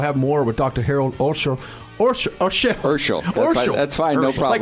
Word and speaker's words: Urschel: Harold Urschel about, did I mispronounce it? It's okay. Urschel.